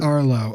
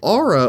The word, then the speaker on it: Aro: Arlo. Arlo. Yeah. The main dude. Arro. Arro. There's no L. It's just Arlo. So, Aro.